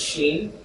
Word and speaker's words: Shin: That's the right way to pronounce it, as sheen.